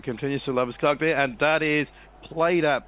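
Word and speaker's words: Labuschagne: So at the start of the next over, we assume it's going to be Madhushankar continuing to Labuskaghni, which will answer one of the questions that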